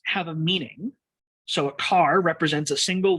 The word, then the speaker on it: char: I pronounce this CHAR as car. Some people say care. I'm probably going to say car because that's what I'm used to. I don't guarantee that that's right.